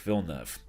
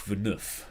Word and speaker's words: Villeneuve: don't i'm talking about jacques villeneuve or if you watch the actual race jacques venus because they can't pronounce his name properly other names on the